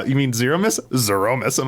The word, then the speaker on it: Zeromus: How do you pronounce the final boss of Final Fantasy IV? The final form of it, Zeromus.